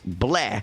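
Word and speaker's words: BL98H: in the bottom lane, pronounced bleh, by the way.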